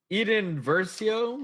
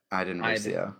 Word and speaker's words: Iden Versio: Next card is Eden Versio. Come on, dude. I don't know. Is that how you say it? No, it's Iden. Iden Versio.